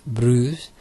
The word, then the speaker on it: Bruges: Bruges, pronounced Bruges, the most well-preserved medieval city in the whole of Belgium, is a welcoming destination for travellers from all over.